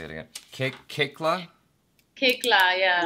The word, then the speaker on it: Koechlin: My last name is pronounced Kikla.